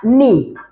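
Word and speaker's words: knee: अब नी में स्पेलिंग जब आप लिखेंगे तो के एन डबल ई लिखेंगे, मगर बोलेंगे क्या, के साइलेंट है, के की आवाज नहीं निकलेगी, एन डबल ई नी, बस माई नी बोलना है हमने।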